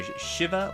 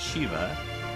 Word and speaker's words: Shivah: Anyway, yeah, I'm pronouncing it Shivah. Those of us Final Fantasy fans might be tempted to pronounce it Shiva. But no, this is a Yiddish word, and we'll learn more about that in a bit.